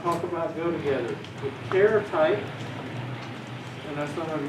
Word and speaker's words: char: about go together with care type and that's something you want to say char you almost can't help yourselves so think about what it means it means the character type hence the abbreviation care now should the english